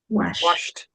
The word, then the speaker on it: washed: So the spelling is ed d but when you pronounce it washed so this week